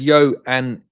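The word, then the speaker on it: Ioan: Bob says, Yoan is how you say his name. Okay. Oh wow. The I-O-A-N is Johan.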